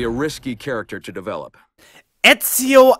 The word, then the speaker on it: Ezio: We have therefore come to the conclusion that Enzio Auditore da Firenze would be a risky character to develop. Ezio Auditore da Firenze, please! Ezio, how can you mispronounce the name so hard?